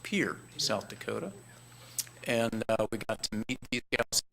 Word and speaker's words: Pierre: things and we learned that this is not pronounced Pierre South Dakota it's pronounced Pierre South Dakota and we got here who ran